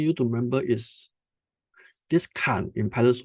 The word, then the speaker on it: kan: Box number 1 in pronunciation is called kan. K-A-N, kan.